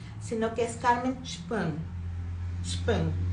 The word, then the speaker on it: Sprung: Sprung, porque así se pronuncia en alemán.